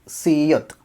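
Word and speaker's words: 시옷: ബി അപ്പ് ബ ഇത് സിയോത്ത് സിയോത്ത് സീയോത്തിന് സ എന്നുള്ള സൗണ്ട് ആണ് സിയോത്ത് സ അത് നമ്മൾ കൊറിയൻ ഭാഷയിൽ വാചകങ്ങൾ വരുമ്പോൾ ഷ എന്നുള്ള ഒരു ഉച്ചാരണമാണ് വരുക സിയോത്ത് ഷ എന്നുള്ള ഒരു ഉച്ചാരണമാണ് വരുന്നത് ഇത് പൊതുവെ ഒരു സൗണ്ട്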